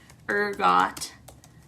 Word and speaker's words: ergot: this theory is that rye ergot is that how you say that ergot er got pronunciation ergot thank god i looked that up okay so this would